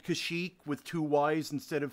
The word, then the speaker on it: Kashyyyk: Not that you would necessarily need to know something like how to spell and pronounce the name of the Wookiee homeworld. Kashyyyk. Kashyyyk.